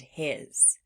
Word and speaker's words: his: Sometimes in words that sound like floss words, they end in what sounds like a Z sound, but it's actually being spelled with an S. For example, these words at the bottom of the screen. As, was, and his. In these words where the S is making the Z sound, as, was, and his,